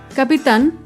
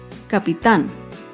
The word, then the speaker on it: capital: vemos otro ejemplo con la palabra capital capital es una palabra aguda se acentúa en la última sílaba y lleva tilde porque termina en la consonante en capital otro ejemplo con la